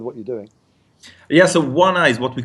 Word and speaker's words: WannA: us a bit of background about is it WannA? Is that how you pronounce it? Yeah, exactly. Okay. WannA.